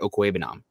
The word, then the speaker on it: Okwuegbunam: be the tight end 2 beating out Albert Okwuegbunam. And I said the name right, so I just need to phonetically.